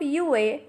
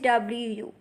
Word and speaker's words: wu: So the first initial is WU, has a pronunciation of U. Repeat after me, U and not Wu.